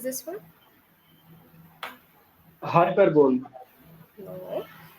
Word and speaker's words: hyperbole: Hyperbole. No. It is hyperbole. Okay. Hyperbole. Not per. It's hyper. Hyper.